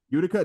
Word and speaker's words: Utica: they beat you I already not pronounced his name I think it's Utica Utica thank you Utica 8372 where jacier no got